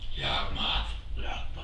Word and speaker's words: Yawgmoth: Yawgmoth. Yawgmoth. Say it like a monster, and then you got it.